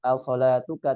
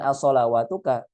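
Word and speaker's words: الصلاة: Qalu ya Syuaibu as-salatuka ta'muruka. Ya. Kalau kita perhatikan di sini dia dibacanya as-salatuka. Ya, bukan as-salawatuka.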